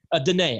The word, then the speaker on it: Danae: It's pronounced Dina, right? Danae, actually. It looks like Dina, but it's Danae, yeah.